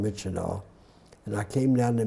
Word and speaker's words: Myitkyina: It's spelled very differently, but it's called Myitkyina.